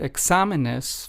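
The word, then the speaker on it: exámenes: So, since the stress in the word examenes follows or falls under the second syllable, we must add an accent over the letter A after the letter X in the word examenes, because that lets us know that that is where the the stress or the emphasis must be added.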